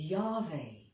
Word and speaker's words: Yahweh: How you pronounce it is Yahweh or Yahweh.